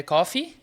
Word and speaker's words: coffee: e tosse né café coffee toir é cof então a diferença da pronúncia é que Coffe tem um sonzinho de no final Coffee o outro é cof com som de F aí ele falando Cuidado